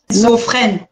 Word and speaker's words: schizophrène: Schizophrène. Schizophrène. Non, ski. Tu fais SK.